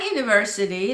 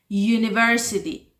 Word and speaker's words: university: Although it starts with a vowel letter, it has the consonant sound. University, university.